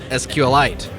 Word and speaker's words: SQLite: We also have interviewed Richard Hipp of SQLite, and we learned there that he likes to call it SQLite, like a meteorite.